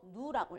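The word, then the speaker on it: ν: 자, 그럼 에너지 E는 플랑크 상수 H 곱하기 진동수를 갖다가 V 비슷하게 쓰고 누라고 읽어줘요.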